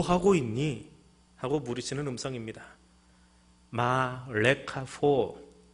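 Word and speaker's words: מה לך פה: 마 레카포, 히브리어로 그렇게 발음합니다.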